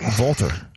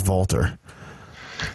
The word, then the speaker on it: Walter: did you know that the proper way to pronounce his name is not Walter what is it Walter oh that makes sense if you listen closely you'll notice that Nigel McGuinness is the only one that says Valter yeah then I'm process